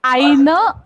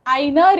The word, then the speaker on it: eine: Okay, तो pronounce करते वक्त वो जो ई है ना, एन के बाद वाला, वो भी हमें करेक्टली करना है। Das ist eine Reporterin.